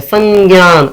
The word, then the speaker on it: संज्ञान: लिखोगे फिर ज्ञान लिखोगे लेकिन उसको पढ़ोगे कैसे पढ़ोगे का उच्चारण होना चाहिए संज्ञान ऐसे पढ़ोगे ओके और लिखने में